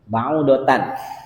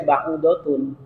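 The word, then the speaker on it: بعوضة: Baudatan boleh dibaca baudotan boleh dibaca baudatun. Nah, ini jauh nih ya. Heeh. Baudatun fama baudatun fama fauqaha. Nah. Boleh dibaca baudotan, boleh dibaca baudatun. Cuma nanti qiraat siapa? Kalau baudatun itu yang jumhur. Kalau yang baudatun itu qiraatnya Ibnu Katsir ya.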